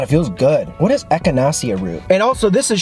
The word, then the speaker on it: echinacea: here we go here's how you say it echinacea echinacea echinacea okay it's got echinacea root and flower and